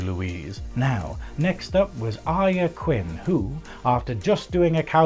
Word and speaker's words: Arya: My name is Arya Quinn. Yes, that is pronounced Arya.